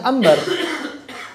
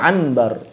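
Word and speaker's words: عنبر: ya begitu begitu makanya ada kata anbar mereka bacanya Ambar enggak dibaca anbar atau misalnya Manalu orang-orang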